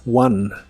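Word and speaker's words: won: en el pasado es One el pasado de este verbo se pronuncia igual a como se pronuncia el número uno en inglés es one one el verbo One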